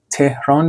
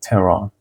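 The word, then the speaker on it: Tehran: تچر اسلاید بعدی خب تهران بچه‌ها تهران نمیگم میگم انگار اچش تلفظ نمیشه تران خب جای اسکول قاعدتا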